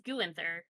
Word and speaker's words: Guenther: Gunther will always be the way I pronounce. No, it's Guenther because there's an N in there.